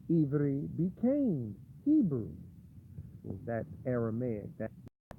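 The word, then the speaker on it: עברי: Jewish people, they pronounce it the Ivri. Ivri means Êvê. Ivri, some people say Ibar, some people say Abri, Ibarya.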